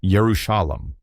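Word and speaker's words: ירושלים: This unique wooden sculpture you inherited is likely an old souvenir from Jerusalem featuring a Hebrew inscription that reads Jerusalem in a biblical form pronounced Yerushalam. The building carved on the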